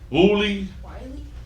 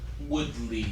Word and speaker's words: Woodley: Willie? Woodley. Woodley. Yeah, it's Terrence Woodley. or Tyron Woodley something. Tyron Woodley.